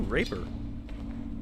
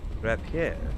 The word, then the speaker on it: rapier: Ooh, Raper. Wait a minute. That's not how that word is pronounced. Rapier.